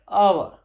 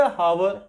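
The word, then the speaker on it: hour: आर, इसको बोलते हैं आवर। अब कुछ इसको बोलेंगे हावर। अब हावर तो गलत हो जाएगा, है क्या?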